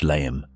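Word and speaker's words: Léim: but locals continued to use the short, sharp pronunciation derived from the Irish layum.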